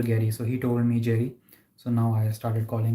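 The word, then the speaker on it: Gerry: personally pronounce it as Gary but in the UK people pronounce it as Jerry and he is from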